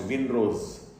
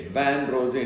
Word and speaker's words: vin rosé: we call vin rosé, often mispronounced vin rose. It's vin rosé, it's French, which means pinkish wine, or actually a form of red wine.